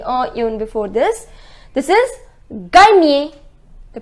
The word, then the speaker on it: gagner: Et finalement, gagner.